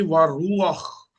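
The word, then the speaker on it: וְרוּחַ: तो ये जब ऐसे लगेगा तो इसमें आख की आवाज ऐड करनी पड़ेगी। तो ये हो जाएगा जी वारू आख, वारू आख, वारू आख।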